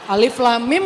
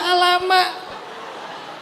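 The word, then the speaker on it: الم: Bismillahirrahmanirrahim ayat 1 Alam Alif Lam Mim dibaca Alama dikira semuanya fat fathah kok k jadi Alama ya nah jadi teman-teman yang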